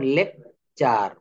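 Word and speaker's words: lecture: এর পরে ইউ আছে অর্থাৎ শব্দে টি থাকলে টি এর পর ইউ থাকলে টি এর উচ্চারণ হবে চ এর মতো টি এর উচ্চারণ কিসের মত হবে বলেন তো চ এর মত যেমন লেকচার সেঞ্চুরি ফার্নিচার সব জায়গায় চ আসতেছে আপনি নিজে নিজে একটু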